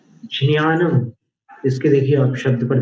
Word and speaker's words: ज्ञान: प्राय करके हिंदी में ज्ञान बोलते हैं और प्राय करके मराठी में ज्ञान बोलते हैं, द से शुरू करके ज्ञान। और गुजराती में ज्ञान बोलते